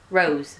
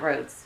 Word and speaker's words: Rose: Rose, not Rhodes. Rose.